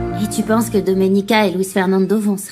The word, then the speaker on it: Domenica: Tu as du mal à prononcer mon prénom. C'est Doménica.